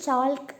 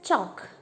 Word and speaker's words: chalk: ചോക്ക് എന്നതിൽ എല്ലാണ് സൈലൻ്റ് അല്ലേ, നമ്മൾ ചോൾക്ക് എന്നല്ല പറയാം. V pronounce it ആസ് ചോക്ക്. സോ എൽ ഈസ് സൈലൻറ്റ് here.